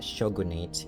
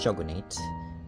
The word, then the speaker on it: shogunate: So the shogunate, it's pronounced shogunate, not shogunate, because shogunate is an English word. It's not a Japanese word.